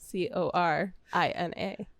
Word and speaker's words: Corina: Karina's name is spelled Corina. just There you go. just for those who need to know. They know. Indeed. you know. Corina. Yeah. Like NA as in like not applicable.